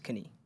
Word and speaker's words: Kanii: It's Kanii.